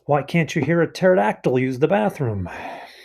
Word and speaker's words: pterodactyl: can't you hear a pterodactyl use the bathroom because the P is silent alright Lisa so what